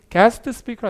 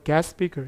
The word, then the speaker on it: guest speaker: 자, 그럼 뭘 보셔야 되냐면 더도 됐고 이거 guest speaker지만 요 끝자음 st가 약해요. 요거 날라가고 ss가 같아서 얘도 날라가요. 그래서 거의 발음이 guest speaker 아니라 거의 guest speaker 이렇게 쓰거든요.